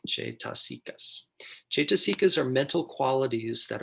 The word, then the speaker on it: cetasika: Every citta occurs nestled in a bed of supporting and enabling factors called cetasikas, pronounced Cetaskias.